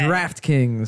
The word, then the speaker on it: Draught Kings: However, just to make sure that we do not get into any trouble, it is spelled D-R-A-U-G-H-T. Ah, yes. It is Draught Kings.